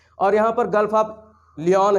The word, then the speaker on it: Lion: ये तो ये तो बना हूँ, gulf of लियोन। Gulf of लियोन, लियोन की खाड़ी है। लायन वाली स्पेलिंग है, LION, लायन। Gulf of लायन या गल्फ ऑफ लियोन वैसे पढ़ा जाता है, गल्फ ऑफ लियोन।